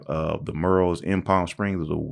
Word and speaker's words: Murrell: Actually, it's pronounced Murrell, but most people, when they read it, they pronounce it Murrell.